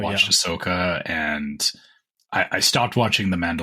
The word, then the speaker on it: Ahsoka: and Andor and I never know how to pronounce that other one Ahsoka Ahsoka is Ahsoka okay Asoka uh so they're going to have uh new